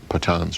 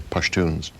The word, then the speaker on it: Pashtun: Most of them, I think 80% of them, are Pathans or Pashtuns. Pashtun and Pathan really is the same, different pronunciations of the same word.